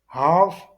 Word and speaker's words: half: Remarque, half, c'est la demi ou la moitié, et dans ce mot, le L ne se prononce jamais.